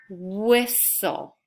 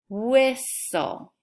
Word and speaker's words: whistle: to make that sound repeat the word whistle whistle which sound do you not hear the H because WH work together to make the what